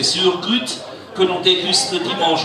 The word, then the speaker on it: choucroute: Alors la choucroute chez nous, prononcée Surgrut, que l'on déguste le dimanche en famille dans toute l'Alsace, la meilleure est la choucroute nouvelle, à partir de septembre.